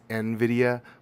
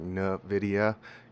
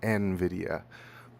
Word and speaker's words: Nvidia: Well, it's it's Nvidia, but uh with my with where I'm from in the United States, it always comes out more like Nvidia cuz I don't know. I just throw a little accent on there. Uh, I really emphasize the N and it comes out as Nvidia, but it is Nvidia.